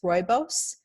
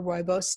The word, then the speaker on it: rooibos: everybody is as familiar with is chamomile is rooibos it's spelled our Oh oh I BOS if you're looking for a rooibos tea it has lovely flavor as well it